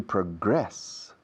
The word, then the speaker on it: progress: To progress, fijaos, el verbo se pronuncia la segunda sílaba, se acentúa.